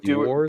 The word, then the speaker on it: Dewar's: The cheapest, best nightly thing I can find is it Dewar's? Is that how you would pronounce it? Dewar's.